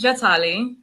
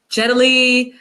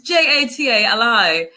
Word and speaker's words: Jatali: So it's funny, the Italians and I feel like people of other cultures tend to say it properly, but then New Yorkers always butcher it. So they're always like, Jatali. I've even gotten Jet Li. I'm like, no, it's Jatali.